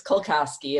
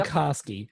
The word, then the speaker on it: Kulkoski: Did I say it right? Close. It's Kulkoski. It's long. Kulkoski. You even told me how to say it phonetically, and I messed it up. It's long and Polish, so everyone messes it up.